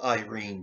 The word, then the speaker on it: Irene: It's spelled Irene, but it's pronounced, at least on the TV show, Irene, with three syllables.